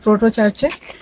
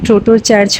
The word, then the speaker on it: গ্রোটো চার্চ: এই চার্চের নাম কিন্তু ট্রোটো চার্চ হবে না, এর নাম হচ্ছে গ্রোটো চার্চ।